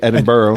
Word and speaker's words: Edinburgh: in Scotland went to it's spelled Edinburg but they over there say Edinburgh Ed fantastic I mean castles